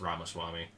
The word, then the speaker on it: Ramaswamy: Ramaswamy? Is that who it was? I think so. I think it is Ramaswamy. No, it's not. It's Ramaswamy.